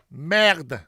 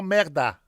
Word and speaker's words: merde: Merde, no merda. Merde. That's not Italian. That's French.